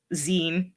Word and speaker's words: zine: And for pronunciation's sake, it's zine because it comes from fanzine.